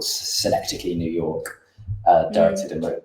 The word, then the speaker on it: Synecdoche: I've seen can never pronounce the first word, New York. Synecdoche, yes.